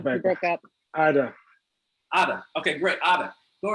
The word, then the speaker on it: Ada: Just pronounce as written. First name. Obekpa. Ada.